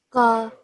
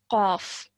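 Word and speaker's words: قاف: Ka, Qaf. Qaf. Yes, well done. Excellent. So this is a thick and heavy sounding letter. It's Qaf.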